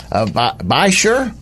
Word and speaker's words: Beishir: Louis Missouri area and I want with met Walt by sure that is smell Bei reason I keep saying